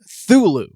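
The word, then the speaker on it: Cthulhu: considered to be correct he did prefer the pronunciation of thulu thulu for cthulu the ca is silent yeah but that was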